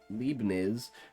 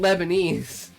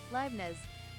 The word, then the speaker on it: Leibniz: At least I'm not calling it Lebanese. Is it Lebanese? Is it supposed to be Lebanese? I'm like, there's a letter missing there, right? Let's see how. Leibniz.